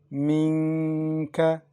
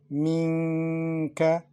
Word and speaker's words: منك: For example, first letter, Minka. We pronounce Noon unclear, also with Ghunna, to prolong it.